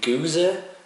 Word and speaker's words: Gueuze: at all man it's gonna be a goose or as Americans say guzar I think they call it what we call it goes in Denmark I'm not sure if